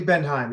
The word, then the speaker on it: Bendhiem: is a Red Rain drummer um Sammy Lee Benham. Am I pronouncing that right Sammy? Yep. Just Sammy Lee Benheim. Yep. Benheim.